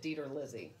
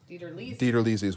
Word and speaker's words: DiTerlizzi: up dana lizzy your parents pronoun your family pronounced it dieter lizzie dieterlizi theater lizzie's what i grew up with so the delete